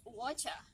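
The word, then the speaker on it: whatcha: Well, are you can be pronounced watcha. Watcha. For instance, what you doing?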